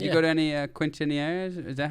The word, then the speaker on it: quinceañeras: Okay, I added a couple syllables and pronounced the Q like a qu.